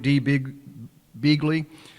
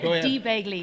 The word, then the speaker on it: Dee Begley: to interview her here so welcome to Detroit D B Begley sorry about that and I'm glad to have you here did I pronounce that right you you you were close D Bley corre D Bley and I'm from Cork so